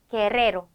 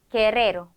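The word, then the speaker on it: guerrero: 두 개가 오는 경우 자 이럴 때 혀를 굴려줍니다 읽어 보죠 게레로 게레로 아리바 아리바 이렇게요 자 그리고 두 개가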